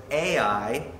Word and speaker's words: Ai: that Joshua had taken I'm going to pronounce a little different than Pastor Nathan I always learned it as a i and totally destroyed it